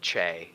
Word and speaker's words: Che: no change no Che it pronounces it c h a y j weird I have no I don't think I've ever met anybody who said Che that's that's you very